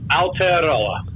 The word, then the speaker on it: Aotearoa: We'll let you go, but just for one more time, how do you pronounce it? Aotearoa.